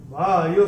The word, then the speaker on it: वायुः: तो चूंकि यहाँ पे स आ रहा है तो विसर्ग का उच्चारण होगा आधा स। तो कैसे होगा? वायु सर्वत्र गोमहान।